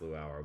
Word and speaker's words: Luau: This is uh and I I think this is pronounced Luau, but I I I don't know how to uh read this stuff. Uh, but I think it's pronounced like the the Hawaiian Luau.